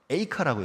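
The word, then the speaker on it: אֵיכָה: 근데 보시면 알겠지만 그 원어 발음이 제가 첫 글자가 뭐라고 했죠? 에이카라고 했죠. 에이카, 애가 발음이 되게 비슷하잖아요, 그렇죠?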